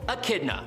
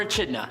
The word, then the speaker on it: Echidna: For example, Echidna, or Echidna, however you want to pronounce it.